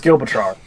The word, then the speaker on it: Gibraltar: And I didn't have it in front of me, so it's Gibraltar.